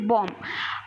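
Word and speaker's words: bomb: में बताने वाली हूं जैसे बम हम बोलते हैं बम लेकिन लिखने क्या है बम लिखने हैं ठीक है तो बी हमारा यहां क्या होता है साइलेंट होता है उसकी बात है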